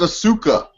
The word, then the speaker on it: Asuka: It's Asuka. Okay, Asuka. Okay, yeah, Asuka Sounds like wins. hookah. It's easy to pronounce her fucking name.